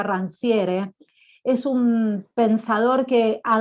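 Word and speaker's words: Rancière: yo les recomiendo que se llama rancia con c se escribe rancier es un pensador que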